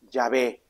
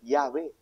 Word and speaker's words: Yahvé: Se le agregó consonantes, la A y la E, diré vocales para poder pronunciarlo, pues, Yahvé.